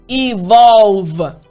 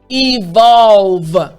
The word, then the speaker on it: evolve: roof of your mouth now for the v sound remember the v sound is all about having your front teeth on top of your bottom lip and you're going to vibrate so the l and the v together it's tricky again excellent so the entire